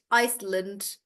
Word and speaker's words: Iceland: Also, guys, all the countries that end in land, you don't pronounce it as land. You again make it really short. So it's more like England, Scotland, Iceland. So again, you don't pronounce the A, you make it shorter.